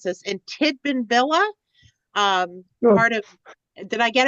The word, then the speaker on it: Tidbinbilla: Mike then moved to the Canberra Deep Space Tracking Station, and I'm going to probably mispronounce this, in Tidbinbilla, part of, did I get it right? Tidbinbilla?